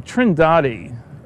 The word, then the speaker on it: Trindade: And here's a sequence from Trindade, I'm told it's pronounced, 600 miles east of the coast of Brazil.